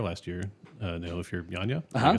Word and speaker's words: Yanya: Know If You're Yanya.